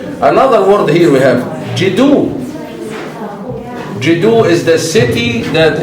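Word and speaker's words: Djedu: So the rest here is the serpent, J, and then the hand, D, and then the quail, U. So these are the phonetic complements that helps us to pronounce the word. Jidu, Jidu. Then what is this? This is a symbol of a city. It's silent. We don't pronounce it.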